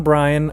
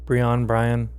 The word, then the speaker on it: Brion: John Bryan, I believe that's how you pronounce his last name. It's Brion. Brian.